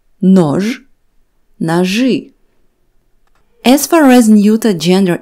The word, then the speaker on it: ножи: After letters ж and ш, the letter и is pronounced as ы. Нож, ножи.